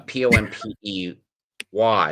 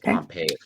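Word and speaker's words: Pompey: Mas uh and there's a guy named General pompy uh p o m p y it's not pronounced pompe pronounced pompy and it incidentally has eventually has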